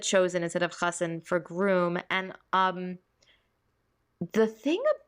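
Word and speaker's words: חתן: I'm pretty sure she said chosen, like for Oh, chassan. instead of chassan, for sure. Yeah. I read this and listened to the audiobook, so you're right. She said chosen instead of chassan for groom, and the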